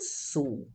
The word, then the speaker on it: Sul: viajar pela América do Sul pois os países têm as paisagens mais lindas eu gosto de viajar pela América do Sul observa que Sul é ele final pronuncio como fosse duas u su pois pois é uma